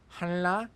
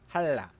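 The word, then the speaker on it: 한라: This means that simli is pronounced simni, hanla is pronounced halla, chongli is pronounced chongni.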